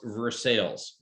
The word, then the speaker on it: Versailles: spelled by versailles like the palace but it's pronounced versailles there's a town called cairo it's spelled cairo